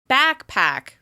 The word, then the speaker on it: backpack: Can you hear which syllable is stressed in this word? Backpack. Backpack. Backpack. As you can tell, the first syllable is stressed, which means it's longer, louder, and higher in pitch with extra clear mouth movement.